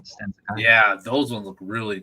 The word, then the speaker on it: Stan Sakai: Stan Sakai?